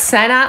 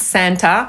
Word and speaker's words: Santa: Secret Santa albo Secret Santa, bo oba warianty wymowy są tak samo poprawne, to właśnie zabawa, która